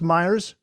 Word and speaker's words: Myers: is it pronounced Myers? That's correct. Okay.